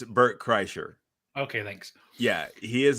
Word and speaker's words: Bert Kreischer: to say his name Bert Christ no it's Bert Kreischer okay thanks yeah he